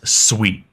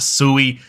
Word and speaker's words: Sui: first off what is sweet and first off what's how is it pronounced it is Sweet It Is Not sui I've been corrected multiple